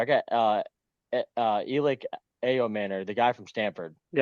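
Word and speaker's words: Ayomanor: I got uh uh Elic A Manor, the guy from Stanford. Y spell that.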